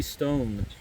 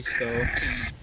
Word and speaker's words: Stowe: Stone. Is that Stone or Stowe? Stone. I'm sorry, I pronounced it wrong. It's G.B. Stowe.